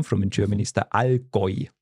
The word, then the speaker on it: Allgäu: Genau, and actually the area where I come from in Germany is the Allgäu. So it has to, U is oi. Oi, okay, Allgäu.